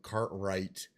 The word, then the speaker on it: cartwright: So, cartwright to wrestle and wrath all contain a silent W.